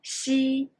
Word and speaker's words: xi: 鸡, qi, xi. Well, 鸡 is for jeep. Qi is for cheese. Xi is for sheep.